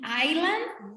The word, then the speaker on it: island: hay una importante diferencia entre pronunciar isla como Iceland o Island. Iceland es el país de Islandia. Oh, yeah. Y Island es isla. Digo, Island.